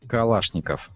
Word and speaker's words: Kalashnikov: do it let's go with Kalashnikov it's actually pronounced Kalashnikov Kalashnikov people usually pronounce this classic World War